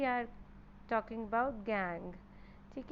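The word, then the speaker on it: gangue: Okay, pronounces as गैंग।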